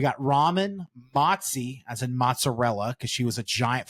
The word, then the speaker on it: mozzarella: I don't know why we decided mozzarella was a good name for a giant fluffy dog. Fluffy and fat. She looks like a ball of fresh mozzarella. I gotta say it like my Italian friends. Mozzarella.